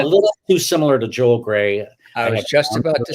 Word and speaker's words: Graae: is really great right do they say it that way in danish yeah no they say grah does anybody say gray everybody i know so i'm introduced i actually changed my name to the pronunciation to gray because of my first